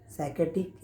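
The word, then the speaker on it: psychiatric: तो साइकेट्रिक में स्पेलिंग शुरू होता है तो पी से शुरू होता है इंग्लिश में, लेकिन पी साइलेंट रहता है और हम बोलते हैं साइकेट्रिक यानी कि मानसिक रोग।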